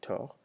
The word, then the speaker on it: tort: Avoir tort, without pronouncing the second T, tort.